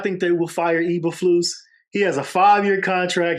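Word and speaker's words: Eberflus: you think they're gonna fire what's his name ebra flu is that how you pronounce it yeah that's how you pronounce it if we lose that game I do not think they will fire EA flu he has a fiveyear contract he's in year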